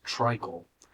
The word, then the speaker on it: Treichl: My last name is Tricle, and it's spelled Time to Treichl.